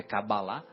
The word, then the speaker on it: cabalá: conhecimento da cabalá né a pronúncia correta é cabalá eh que que nós